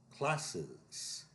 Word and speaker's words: classes: Classes. The ES is a separate syllable there. That is S.